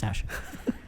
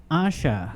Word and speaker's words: Asha: like Tasha or Sasha without the first letter on it.